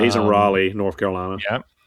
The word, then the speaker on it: Raleigh: Or was it Terrell Owens who calls it Ralea? What was up with that? He's just an idiot. Pronounce it Raleigh.